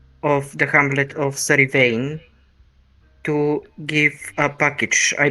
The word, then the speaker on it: Yvain: How do you pronounce it? Sir Yvain.